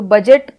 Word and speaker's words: budget: तो यहाँ पे हमने बडजेट हमने नहीं बोला, ना हमने ब्रिज बोला, हम बोलते हैं बजट। तो बजट आप जब पढ़ोगे तो आपको लगेगा जैसे कि बजट हम ऐसे लिख रहे हैं, BUGET।